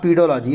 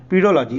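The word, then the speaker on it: pedology: देखिए अब पीडोलॉजी, इसको मैं बोला था इसका प्रोनाउंसिएशन कभी कभी चेंज कर देते हैं, हो ही गया ना, मैं बोला ना पीडोलॉजी, इसको एक्चुअल में पेडोलॉजी भी बोलते हैं, पेडोलॉजी। दोनों अलग अलग नाम नहीं है, एक ही नाम है, प्रोनाउंसिएशन का खेल है।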